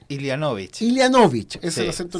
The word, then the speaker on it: Ilianovic: Estaban conversando nuestros invitados muy animadamente, porque efectivamente estamos junto a tu apellido, ¿cómo se pronuncia? Ilianovich.